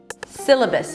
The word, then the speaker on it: syllabus: Syllabus, it's an S sound and the I as in sit. Si, that's the primary stress, so it's going to be higher in pitch than the rest of the syllables. Si, the second syllable is an L sound and a schwa. L, L. The L is a little heavy, so you want to engage the back of your tongue a bit.